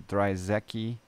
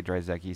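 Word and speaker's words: Drzewiecki: give hats off to dry Zeki I say dry Zeki some people pronounce it other ways but I got to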